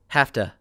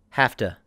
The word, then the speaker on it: have to: to go and also this is not correct spelling this is just what I've written you must spell it this way but we pronounce it like this hafta and for the second